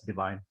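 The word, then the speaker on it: Divihn: with stopwatch now uh divine you will see the spelling as d-i-v-i-h-n we pronounce it as divine we've been in business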